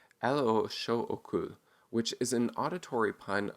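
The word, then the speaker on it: L.H.O.O.Q.: uh called l-h-o-o-q and when you pronounce the letters in france uh sorry in french it sounds like elo which is an auditory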